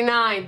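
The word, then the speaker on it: Nein: But spelled like N-E-I-N, the Mighty Nine.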